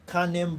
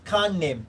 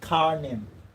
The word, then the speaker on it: Kanem: So he came from here, then he made his way into Kanem Borno. Alright, he made his way into, okay, it's Kanem, not Karnem. Kanem. Kanem Borno.